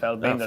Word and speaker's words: Feldbinder: So it's Feldbinder. we'll see more. It's Feldbinder. Feldbinder. There you go. He's got it. The pronunciation on point.